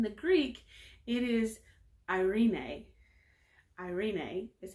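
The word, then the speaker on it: εἰρήνη: actually is in the greek it is irene irene is how you pronounce it in the greek and its hebrew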